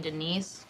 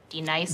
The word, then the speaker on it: Denise: Do you mean Denise? Son of a bitch! You say your name right now. Denise? Say it right. Denise. Correctly. Denise. Right. Denise. Right. D-Nice.